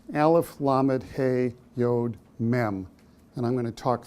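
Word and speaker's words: מם: at the very end is an M it's pronounced mem in Hebrew and if you look at the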